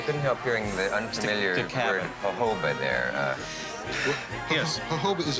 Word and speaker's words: jojoba: typical pitch no The The J is pronounced H as Jehovah the reason that it's pronounced Jehovah is jojoba is because of the